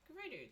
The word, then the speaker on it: Gerudo: Breath of the Wild, Gerudo versus Gerudo in pronunciation was very hotly debated. It wasn't until the voice acting came along for Breath of the Wild that it really kind of put all the pronunciation confusion to rest. It is in fact Gerudo.